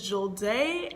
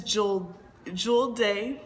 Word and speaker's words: Julde: So my name is Jul-DAY, but it's actually pronounced Julde, and Julde is a Fulani name which means day of prayer.